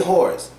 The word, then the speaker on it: whores: But when you're saying whores, the W is basically silent and the S becomes a hard Z.